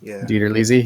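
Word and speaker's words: DiTerlizzi: Tony Ditterlizzi? Ditterlizzi, yeah.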